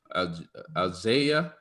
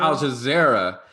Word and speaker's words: Al Jazeera: Alzaya? oh, you talking about Al Jazeera? Al Jazeera.